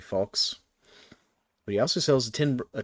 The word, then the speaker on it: falx: I mean, no, I mispronounced it and called it flax last time. It's actually falx.